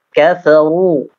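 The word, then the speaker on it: كفروا: Kafaru, ru jelas ya, dan ro-nya dibaca tebal.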